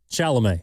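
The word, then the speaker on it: Chalamet: Evan, how you pronounce his name? Shalomé.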